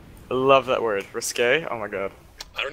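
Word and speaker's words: risqué: Risque. I love that word. Risque? Oh my god. I don't even. It doesn't mean risky, it just means. You just like it because it rhymes with gay.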